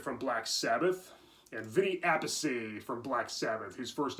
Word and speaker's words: Appice: But yeah, Bill Ward and Vinnie Apasey. Vinnie Apasey, of course, was the younger brother of Carmine Appice. Yeah, they pronounce their last names different.